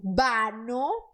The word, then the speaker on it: vano: Então, la hormiga luchó en vano, porque V é B, vano, por llegar a la orilla.